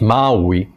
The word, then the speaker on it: Maui: Not the island, Maui, in fact it's Maui, if you want to pronounce it right.